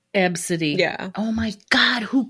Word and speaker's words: Abcde: It's ABCDE, and it's pronounced Absidy. Absidy.